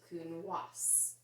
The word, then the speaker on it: Counoise: Well, the silent E in French makes your S say S. So this is, instead of Counoise, it is Counoise.